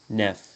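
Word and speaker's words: neuf: L'F se prononce toujours. 9. 9 livres. 9 amis. 9 amis. Hein. Le F se prononce V avec les mots en, homme.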